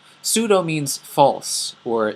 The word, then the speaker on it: pseudo: this one is called pseudo the P is silent pseudo pseudo means false or not